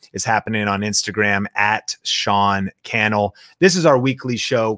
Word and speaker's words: Sean Cannell: Sean Cannell rhymes with YouTube channel.